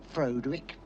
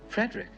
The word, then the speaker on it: Frederick: No, it's pronounced Frankenstein. Do you also say Frederick? No, Frederick.